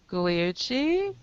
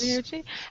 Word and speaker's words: Gugliucci: Pamela Gay and Nicole Gugliucci. Did I say it right? Beauty, yes. Gugliucci.